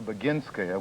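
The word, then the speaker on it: Boginskaya: Quite frankly, I have enormous respect for Beinska, which is the correct pronunciation of these difficult Russian names.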